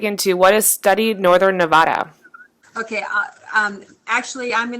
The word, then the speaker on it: Nevada: to really dig into what is Study Northern Nevada. Okay. Um, actually, I'm going to do this. Cheryl, go ahead. Take it away. Well, okay. First of all, I'd like to say we live in Nevada.